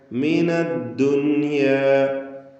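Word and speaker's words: الدنيا: നസീബക മിനദ്ദുനിയ. മിനദ്ദുനിയ. സക്കിനത്തായ നൂൻ ശേഷം യാ ഒറ്റ പദത്തിൽ വന്ന സന്ദർഭമാണ്. ഇൽഹാർ മുത്ലഖ് എന്ന നിയമമനുസരിച്ച് നൂനിനെ അല്പം പോലും മണിക്കാതെ വെളിവാക്കുകയാണ് വേണ്ടത്.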